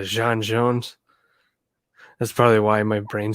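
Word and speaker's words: J'onn J'onzz: to pronounce it right his name is john it's jean yeah jean jones that's probably why my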